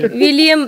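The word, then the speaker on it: William: कह रहे हूं आप विलियन का स्पेलिंग ही वही है विलयन नहीं नहीं नहीं विलियम डब्लू आई वाला होगा ना हां डब्लू होगा फिर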